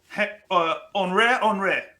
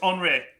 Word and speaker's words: Henri: There was a hat company called, I'm going to look at it to get it right, Henri. It's spelled Henry, but it's Henri.